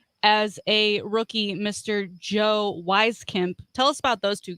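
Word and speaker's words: Wieskamp: about those two guys wheeze camp yep let's get those german names right so i'm sorry it's w-i-e okay and german it's always going to go with that second letter so it's reef cap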